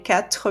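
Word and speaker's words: quatre: So, I see that here you don't hear the RE, and even for us, it's easier not to pronounce that R, because when you have that R sound followed by another consonant sound, it doesn't make it easy to pronounce, so we tend to skip that.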